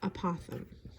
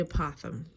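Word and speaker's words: apothem: But the height in this is also referred to as apothegm. It sounds like an opossum, but it's spelled differently. Apothegm, the height, is anything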